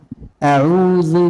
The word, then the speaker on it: أعوذ: إذن عندنا هنا همزة لا نقرأها هكذا أعو نقول أعوذ بالله من الشيطان الرجيم.